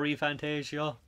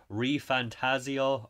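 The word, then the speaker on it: ReFantazio: Is Dragon Age bigger than Metaphor ReFantasio? Sorry. ReFantasio. I've been pronouncing that wrong for about a year.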